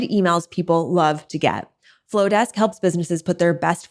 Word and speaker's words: Flodesk: Flowdesk is spelled FLODESK.